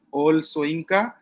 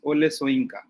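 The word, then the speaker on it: Wole Soyinka: Uh, some of us do pronounce him as Ol Soyinka, and some of us do pronounce him as Ole Soyinka.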